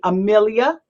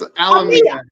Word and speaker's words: Alamilla: Amelia. Did I say it right? Close. It's Alamilla. Alamilla. Alamilla. It's like Mamma Mia, but Alamilla.